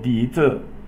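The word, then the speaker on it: 笛子: For example, Di Zi is a flute. So the Z means a thing. Di Zi. Di Zi. That's probably the correct pronunciation. Di Zi. So D is second tone.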